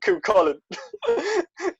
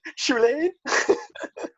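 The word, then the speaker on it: Cú Chulainn: How the fuck did you mess up Cuchulainn? Chilean? I'm not the only person that's pronounced it like that.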